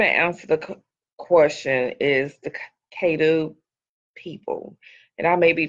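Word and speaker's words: Caddo: but i'm gonna answer the question is the cato people and i may be pronouncing it incorrect because c-a-d-d-o is the k-2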